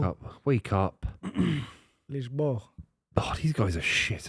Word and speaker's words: Lisboa: That's how you say it in Portuguese, Lisboa.